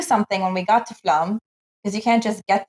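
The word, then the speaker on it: Flåm: Called the Flam Railway, Flam, I think is how they say it.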